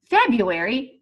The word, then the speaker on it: February: and you think are you say Febuary but you think February when you spell the word to make